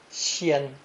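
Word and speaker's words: 仙: Pronounced first tone, xian, xian.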